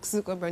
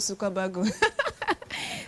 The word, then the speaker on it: Zuckerberg: Facebook was founded by Mark Zuckerberg, pronounced Mark Zuckerberg, not Zuckerberg.